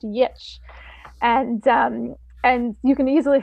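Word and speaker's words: Giertz: Her last name is spelled Geertz, but she's Swedish and it's pronounced Yitch.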